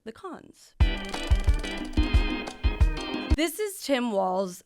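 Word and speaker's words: Walz: cons this is Tim Walls I just found out that it's walls and not Waltz so I have been mispronouncing it he's the governor of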